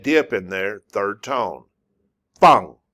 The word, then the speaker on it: 放: Fang. This is the fourth tone. Why do I say it? I say it like I'm angry.